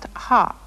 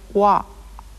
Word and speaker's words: は: You've already learned that this letter is pronounced ha, but it is also used in sentences to represent the grammatical particle wa.